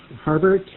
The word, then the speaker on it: Harbert: me your name again please my name is Harbert h a RB r t Harbert um in